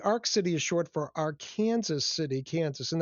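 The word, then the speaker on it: Arkansas City: City is short for Arkansaw City, Kansas and that's how we in Kansas pronounce it.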